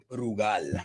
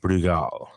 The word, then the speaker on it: Brugal: Brugal. Brugal. So you trill your R's.